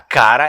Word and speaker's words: Kara: Cara é uma palavra em venético antigo que se escreve no alfabeto latino em K-A-R-A, só que era escrito em runas, né?